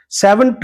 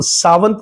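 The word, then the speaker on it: savant: तो सावंत नहीं बोलते इसको इंग्लिश में बोलते हैं सेवेंट।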